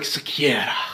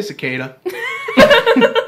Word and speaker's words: Sequeira: Well, it's Spanish, so, like, technically it's, like, Sequeira. Like, that's how you pronounce it. Sequeira. Yeah, but it's really... we were just like, we'll say cicada.